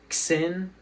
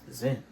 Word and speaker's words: Xin: It's spelled Xin. And that's how you pronounce it. Some people pronounce it Xin or something like that. That's not how you pronounce it. It's Zin. And he's a pretty good main character, actually.